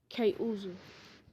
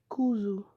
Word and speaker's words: Kuzu: I even named my capital town Kate Uzu after my beautiful girlfriend, Karin Uzumaki. Kuzu. After my he named me Kuzu, not Kate Uzu. I pronounced it wrong. It's Kuzu.